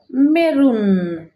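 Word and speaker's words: maroon: উচ্চারণ হবে মেরুন, মেরুন।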